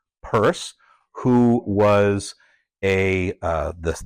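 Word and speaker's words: Peirce: thought you pronounced it Pierce but I've um found out that in fact it was he would have pronounced it Cyrus purse who was a uh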